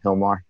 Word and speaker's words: Gilmar: tuning in thanks for giving us this time Hilmar and remember guys when you're searching it's Gilmar GI LM AR but it's pronounced and you do that all over